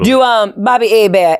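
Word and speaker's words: Hebert: Do um Bobby Abea. H E B E R T. Yes. The H is silent. It's French.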